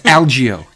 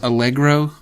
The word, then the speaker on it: Algeo: should have written it it's algo a l GE EO okay that's good because I probably would have mispronounced it anyway I get a lot of um I get a lot of algro yeah people invent an r and uh that sounds